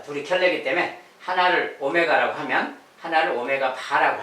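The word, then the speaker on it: ω: 자, 쟤는 이제 오메가라고 읽습니다. 자, 이렇게 생긴 글자는 오메가라고 읽어요. 자, 글자 자체는 오메가라고 읽고, 자, 한 녀석이 오메가면 얘는 오메가 바가 되는 거예요.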